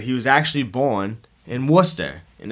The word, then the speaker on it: Worcester: was actually born in Worcester and if you're not from Massachusetts you'll probably pronounce it War Chasta but anyways he was